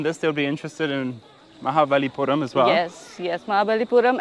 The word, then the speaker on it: Mahabalipuram: Mahabalipuram.